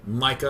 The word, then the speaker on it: Misha: I think Misha is how you say it if it's a German name. Micah is how you might say it in American.